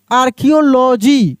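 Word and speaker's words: archaeology: आर्कियोलॉजी। क्या पढ़ते हैं? आर्कियो आर्कियो लॉजी तो यहां पे क्या देखिए स्पेलिंग भी देखिए बड़ा कठिन है।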